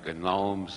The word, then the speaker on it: gnomes: Harold Wilson said Europe is controlled by the gnomes of Zurich. As far as I know, he's the only one who ever pronounced the G in that word.